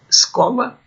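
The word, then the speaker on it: schola: A quarta linha, vejam, escola, quando aparecer CH é o som Q, escola, PH é o som F, filósofos, qui, todas as letras são pronunciadas, né?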